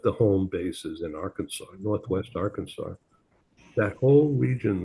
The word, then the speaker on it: Arkansas: It looks like our Kansas, but it's pronounced locally Arkansas.